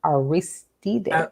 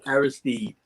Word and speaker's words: Aristide: Haitian former president, um, and I'm going to pronounce this, John Bertrand Aristide? Aristide, Aristide.